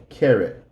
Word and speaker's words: carrot: use don't again and this word is going to sound like that the a is actually going to have an A and then another a carrot carrot we like beans we